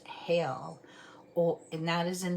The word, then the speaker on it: Haegl: It's spelled h a e g l pronounced hail or and that is in the anglosaxon foothark.